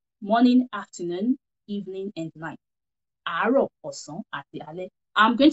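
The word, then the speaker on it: àárọ̀: It is written as aro. A-A-R-O. And there you go, aro. That is how you say aro. Repeat after me so you practice how to say it. Aro. And it has its own mark.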